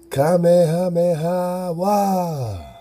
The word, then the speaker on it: Kamehameha: I said all drop there you go okay kamehameha I like coming up man how you